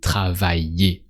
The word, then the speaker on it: travailler: So still with a E sound at the end because it's the infinitive.